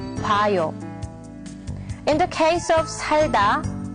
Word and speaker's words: 봐요: So in this case, it's not 보아요. But the correct way to say it is 봐요.